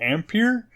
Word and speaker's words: Ampere: So the rumor is the new cards that are coming out under the Ampere.